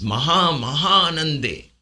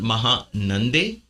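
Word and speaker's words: महानन्दे: It's not Maha Nande. I've just broken it for your pronunciation for those of you who are new to Sanskrit. But Maha Anande. Maha Ananda. Maha and Ananda, because there's Maha Ananda, it becomes Maha Anande.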